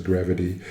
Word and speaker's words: Grvt: Another strategy, so I signed up for Grvt, apparently that's how it's pronounced. I know I butchered it the other day, but I saw it on Twitter. They would like it pronounced as Grvt.